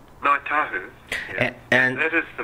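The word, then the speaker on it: Ngāi Tahu: I don't know the pronunciation. Ngai Tahu. How do you say that correctly? Ngai Tahu.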